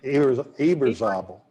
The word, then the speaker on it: Eberzabel: Eberzabel, What is it? Eberzabel, please. Eberzabel. Eberzabel? Okay. I've never known how to pronounce that name.